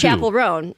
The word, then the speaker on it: Chappell Roan: Oh, you say it like it's one word. It's actually two. Chapel Roan.